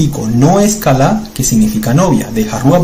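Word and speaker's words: כָּלָא: Las dos veces con a, con el sonido a. Kalá, esa es la raíz común de kil ayin. Nuevamente una kaf, una lamed, una alef. ¿Ven? K a l a.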